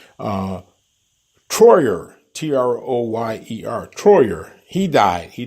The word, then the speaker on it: Troyer: It's got to pronounce his name correctly. Troyer, Troyer.